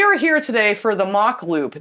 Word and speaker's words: Mach Loop: here today for the mock Loop now I think you guys pronounce it Mac we've heard a few